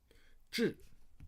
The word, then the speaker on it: 痔: This is pronounced as 痔, but inside is a 四.